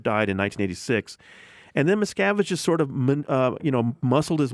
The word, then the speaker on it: Miscavige: David Miscavige.